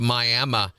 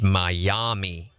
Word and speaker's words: Miami: The Miami, it's Miami Indians. That's the way you pronounce the Indian tribe.